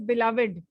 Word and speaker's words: beloved: a little more and the right pronunciation is beloved my beloved mother yeah yeah not uh